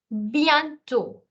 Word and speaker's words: bientôt: Then you have bientôt. The last T is not sounded.